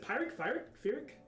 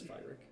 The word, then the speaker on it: Pyrrhic: It's Fyric. I think it's fire. It's weird. Yeah, you could talk to Yeah. Pyrrhic.